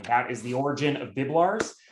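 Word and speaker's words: Biblarz: It's a bit of a hard name to pronounce, and I used to joke with my grandfather that they fled Poland and it used to be Biblarski, and it's the only time they Americanized the last name and they made it more difficult to pronounce. So it's just 2 syllables, just like it looks.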